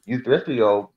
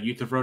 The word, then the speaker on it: Euthyphro: you get problems like the youth euthyrito problem i can't pronounce that right but basically you said the euthyphro dilemma yeah yeah yeah that's that's how you pronounce it anyway uh you